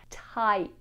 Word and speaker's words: tight: And there are some silent letters here to try and confuse you. We have tight, tight, tight-fisted.